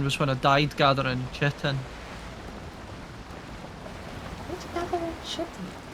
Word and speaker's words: chitin: Oh, you mean It's actually chitin? chitin. It's with a K. Even though you say chitting. I don't know, everybody wants to say shitting because that, yeah.